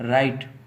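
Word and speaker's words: write: कि डब्लू के साथ डब्लू के बाद अगर आ रहा था हो है तो डब्लू को साइलेंट कर गया था है ठीक है जैसे इसको बोलेंगे रॉन्ग अच्छा ठीक है इसको बोलेंगे रिंग रिस्ट राइट टू यहां पर डब्लू का या साइलेंट हो जाएगा डब्लू के बाद यह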